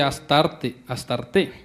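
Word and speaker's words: Astarté: de las imágenes de Astarte, acento en la E.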